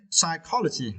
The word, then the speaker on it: psychology: and for this verses you need to stretch the second syllable okay psychology psychology yeah it is